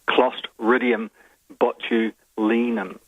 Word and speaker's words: Clostridium botulinum: the scientific name of the bacterium, and it's Clostridium botulinum. Now, well done. 10 out of 10 on the pronunciation, Selwyn.